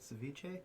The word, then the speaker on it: ceviche: say this CI v c h e what Ceviche yeah ciche yes um serich y it's usually